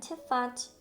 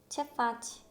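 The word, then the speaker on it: Ce faci: 그러니까 평소에는 크와 그 사이 발음이 나다가 알파벳 E와 I랑 만나면 츠 발음이 납니다.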